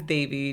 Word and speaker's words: Devi: My name is Davy.